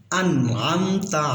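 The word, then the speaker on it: أَنْعَمْتَ: সিরাতাল্লাযীনা আনআমতা, এখানে আমরা অনেকেই বলি আনা আমতা, এখানে আনার ভিতরে আমরা অনেকেই কলকলা করে ফেলি, বারবার উচ্চারণের মতো শোনা যাচ্ছে, কিন্তু আমতা এটা ইজহারের হরফ, স্পষ্ট করে পড়তে হবে। আনআমতা আলাইহিম, গয়রিল, এখানে অনেকে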